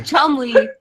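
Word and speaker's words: Cholmondeley: the chum how you that spelled weird a Chumley greetings from across the light that is a very very strange English name but it's pronounced Chumley what does that mean it's a name it's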